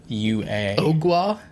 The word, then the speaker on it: Ogua: And it's not spelled like agua as in like water in Spanish. It's Ogua. Ogwa? Ogwa Monster.